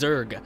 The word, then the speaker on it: Xur: we're going to be going to go see exer loots now last time one of you guys were like hey it's pronounced Zerg not X Zerg what the